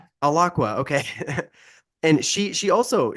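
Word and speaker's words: Alaqua: Is that how I pronounce the name? Aloqua. Yeah. Aloqua.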